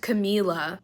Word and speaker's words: Camila: on this channel about how it's pronounced camila because people kept commenting telling me in other videos that it was camila and yet here you are still saying it wrong i'm so sorry and